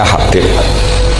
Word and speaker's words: Habib: di harakatnya kitab itu ada yang nulis khab Yang benar Oh engih yang benar itu bacanya habib habib itu asulami itu ikut